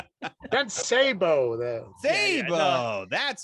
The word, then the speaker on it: Sabo: It's Trent Sabo.